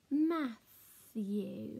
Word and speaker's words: Matthew: So it's like it's got a silent T here. Matthew, Matthew. Silent T. Because you don't say Matthew. It's just Matthew.